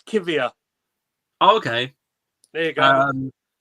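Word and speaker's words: Kiwior: I can pronounce it. It's Kivia.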